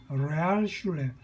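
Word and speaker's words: Realschule: 그래서 초등학교를 졸업하고 레알슐레, 독일어로 레알 하면 영어의 리얼입니다. 우리가 보통 영어를 우리가 한국식으로 콩글리시하게 발음한다죠. 그런 발음이 이제 주로 독일어 발음이 많은데, 레알 하면 여러분 댓글창에 뭐 레알 이렇게 하죠. 영어의 리얼을 그죠? 그대로 발음한 레알 이렇게 콩글리시로 이 독일어가 레알이 이제 영어의 리얼의 뜻입니다. 슐레 하면 학교입니다. 영어의 스쿨.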